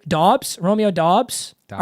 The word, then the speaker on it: Dobbs: be ooh through t-h-r-o-u-g-h so phonetically that should be dubes so it is Dobbs okay but I'm not